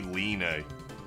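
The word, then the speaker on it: Leene: it's Marl but apparently it's not Queen lean it's supposed to be Leen which I will never do I will never say Len but I guess that's the proper pronunciation I will go back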